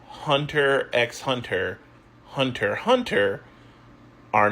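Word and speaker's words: Hunter × Hunter: And lots of people still pronounce the X in Hunter X Hunter.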